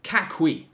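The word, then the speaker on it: 家駒: And you pronounce it in Cantonese as Ka Kui, right? Which is kind of how you hear the Jackie, Ka Kui.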